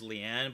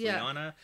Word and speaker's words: Lyanna: This is like a Lyanna situation again, where you read it as Leanne, but it's Lyanna.